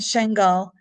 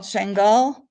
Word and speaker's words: Shingal: Sinjar is Arabic and Shingal is Kurdish. It's one and the same, Arabic or Kurdish. There's a region called Shingal and a town called Shingal, like New York City in New York State.